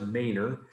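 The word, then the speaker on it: Manor's Hill: It looks like Manor, but it's pronounced Maynard.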